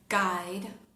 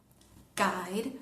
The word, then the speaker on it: guide: Cuando tenemos las letras G, u, en general la u no se pronuncia, como pasaría en castellano. Ejemplo, palabras como kes, kes, guilt, guilt, guide, guide.